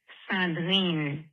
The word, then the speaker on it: Sandrine: Eric and Aisha, this is Sandrine, pronounced in French, Sandrine.